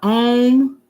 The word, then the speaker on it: Om: Om, pronounced Om.